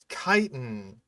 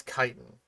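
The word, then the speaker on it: chitin: A lot of people have a a pretty hard time pronouncing kiten when they just read it apparently. Um but it is kiten though. Like c hi t i n. That's kitan.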